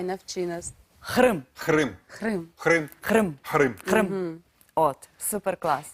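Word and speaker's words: Qırım: б почати з того щоб ми навчилися правильно вимовляти кримськотатарською А ну давай Навчи нас хрим-хрим хрим хрим-хрим хримм от Супер Клас І дуже співчуття розумієш що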